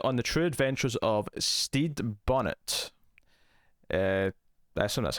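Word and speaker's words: Stede Bonnet: is based loosely on the true adventures of steed bonnet uh that's how you pronounce that a pampered aristocrat who's abandoned his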